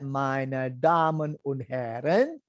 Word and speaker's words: Meine Damen und Herren: Meine Damen und Herren. Can you say that? Meine Damen und Herren.